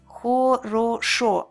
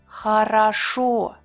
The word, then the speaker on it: хорошо: Хорошо. Хорошо. See, when vowels are unstressed, they change a little bit. When a vowel isn't stressed, it changes its sound. It's called vowel reduction.